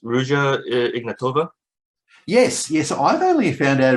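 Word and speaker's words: Ruja Ignatova: You've got, so I'm assuming this is pronounced Rouge Ignatova? Yes. I've only found out about Rouge Ignatova recently.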